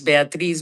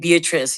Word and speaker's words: Beatriz: My name is Beatriz. If you cannot pronounce Beatriz, just call me Bea. I hate Beatrice. It sounds like an old auntie.